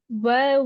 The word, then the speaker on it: where: Where we're dressed. Fantastic. Good. Be careful it doesn't become were we are dressed. Where, air, wide and open.